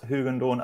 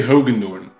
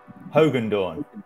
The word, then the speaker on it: Hogendorn: Let's say Hogendorn. Hogendorn. Yeah, like Hulk Hogan, but then Dorn behind it.